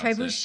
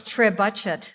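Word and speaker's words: trebuchet: Did not know how to pronounce Trebuche. Yeah. So, I had to look it up. I googled it. No, I'm impressed. It's Yeah. I thought it was Trey Budget.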